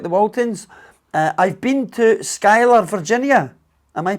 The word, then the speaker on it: Schuyler: I've been to Schuyler, Virginia. Am I pronouncing that properly? Ah, Schuyler?